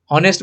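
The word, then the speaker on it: honest: जैसे आर, ऑनेस्ट, जब हम आर बोलते हैं तो यहाँ पे एच साइलेंट है, ऑनेस्ट बोलते हैं तो एच साइलेंट है।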